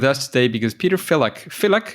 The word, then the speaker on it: Filak: Filak, is that a good way to pronounce it? That's correct.